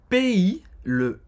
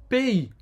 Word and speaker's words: pays: Le pays, você não vai pronunciar o S no final. Le pays. Hein? Tem o som do E aberto, EI. Fechado, na verdade, né?